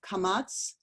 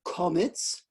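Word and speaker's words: קָמָץ: Modern day Hebrew is pronounced Sephardi, so this kamatz, would be pronounced but in Ashkenazi pronunciation, it's komitz. So let's say that, komitz, like you say chometz for Passover, because that's the Ashkenazi pronunciation.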